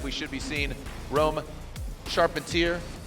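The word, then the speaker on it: Charpentier: should be seeing Rome sharpentier sharpentier however you want to pronounce it I've been told by him charpatier and his dad FYI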